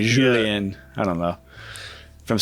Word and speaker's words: Julien: You gotta roll the J. Julien.